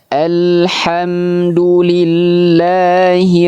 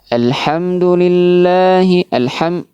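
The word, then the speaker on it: الْحَمْدُ لِلَّهِ: Nah, baik, di ayat yang kedua ini kesalahan sering terjadi dalam pelafalannya adalah yang pertama huruf lam. Ya. Masih banyak yang tidak menyempurnakan atau tidak memberikan sifat bainiyah pada huruf lam. Artinya dibaca huruf lam secara terburu-buru.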